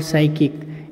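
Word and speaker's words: psychic: तो ये आप स्पेलिंग याद रखेंगे, न्यूरोटिक और साइकिक, इसमें पी का उच्चारण नहीं किया गया है, पी यहाँ पे साइलेंट है और यह केवल साइकिक का उच्चारण किया गया है।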